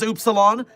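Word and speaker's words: Upsilon: I remembered it was oopsilon despite it being a stupid pronunciation.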